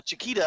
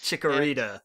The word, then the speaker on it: Chikorita: Chiquita, I believe, is the name. That's just what I call it because I think of Chiquita the banana. Chikorita. Yeah, there's another Chikorita, syllable in there.